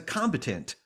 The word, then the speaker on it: combatant: reading about that story, David self-describes as a combatant, or how do you say it?